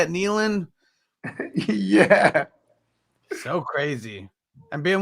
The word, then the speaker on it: Nealon: Nealon?